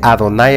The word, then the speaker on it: Adonai: Elohim Ln David Abi si notamos se lee adonay Elohim la expresión que está